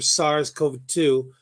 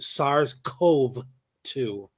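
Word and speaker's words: SARS-CoV-2: a PCR test for SARS Co 2 the virus that uh causes covid-19 so is I I mispronounced it SARS Cove 2 they found that around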